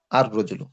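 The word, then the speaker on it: الرجل: তাসটিদ করে দিতে হবে এইযে এখন উচ্চারণ কি হবে এই শুরুর আলিফটা পরের রকে গিয়ে ধরবে আর রজলু উচ্চারণটা কেমনে হবে? আর রজুল। রজুলন থেকে আর রজুল।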